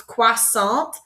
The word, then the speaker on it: croissant: we call them a croissant but in French it's quas Sal so that first part is qua and then that last part is salt like s a n t salt so Quant is a